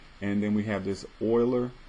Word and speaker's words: Euler: then we have this euler so it looks like a euler e-u-l-e-r but it's pronounced oiler he is the person